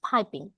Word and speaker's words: piping: The curry is পাইপিং হট, এটাকে পিপিং বলে অনেকে, বাট ইটস নট পিপিং, ইটস পাইপিং।